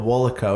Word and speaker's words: WOLACO: like adidas is adidas right so it's called Wallach oh it stands for way of life athletic company